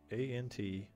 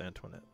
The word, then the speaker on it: Antoinette: Antoinette has a silent E at the end, so we just place a dot there.